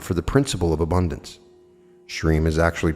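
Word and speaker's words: Shrim: Shreem is actually pronounced Shreem, where you drag out the middle part to run for the duration of the breath.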